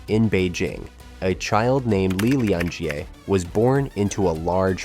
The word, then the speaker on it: Li Lianjie: Beijing, a child named Li Lianjie was born into a large family. At least, that’s how his name is pronounced in Mandarin Chinese, but in Cantonese, it’s Lei Lin-Git or Li Ling-Kit.